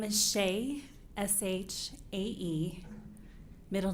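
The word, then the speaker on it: Shae: My name is Shay, S-H-A-E, middle name and maiden name. Last name is pronounced like Harris with a lisp.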